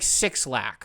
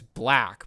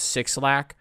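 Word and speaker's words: 6lack: I don't know how it's it's like sixlak how you're supposed to say it. Like it's black, but no, it's not. It's sixlack.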